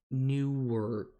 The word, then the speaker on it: Newark: Les, is that Nerk?